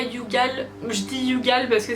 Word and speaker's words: Youghal: Youghal, nous on l'appelle Youghal mais en fait ça se prononce Youghal.